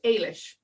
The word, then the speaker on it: Eilis: pronunciation of my name it's ailish Alish yeah that's okay bye guys a lot of my workshops I start with this is how you pronounce my name right right I had it and it's funny because it starts with an E which doesn't necessarily mean that it should be pronounced I wish but it's the Irish language yes perfect so let's